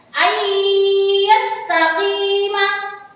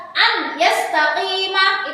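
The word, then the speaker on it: أن يستقيم: Jadi cara membacanya itu harus dimasukkan dengan mendengung. Tidak boleh dibaca jelas seperti ini, seperti idhar. An yastaqima itu salah ya.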